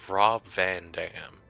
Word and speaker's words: Rob Van Dam: Rob Van Dam, I think? God, Rob Van Dam.